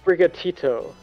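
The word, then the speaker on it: Sprigatito: thought behind those eyes what bright what if pronounced brigatito okay I thought you were talking about the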